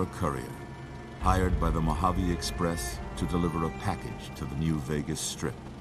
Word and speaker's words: Mojave: It's pronounced Mojave, actually.